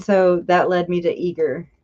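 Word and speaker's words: Eagar: the details and so that led me to eager right and so I Googled that on up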